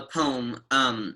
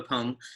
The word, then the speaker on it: poem: The stressed syllable of po drives the word forward, and the unstressed syllable of is just along for the ride.